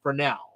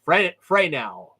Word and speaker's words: Fresnel: I know it's spelled f-r-e-s-n-e-l but it is pronounced for now okay and some people say it's pronounced Frey now okay fine whatever the point is we're going